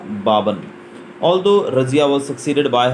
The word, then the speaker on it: Balban: इसको प्रोनाउंस करेंगे हम बालबन, लेकिन प्रोनाउंसिएशन बाबन ही रहेगा, लेकिन ये बालबन लिखा जाता है।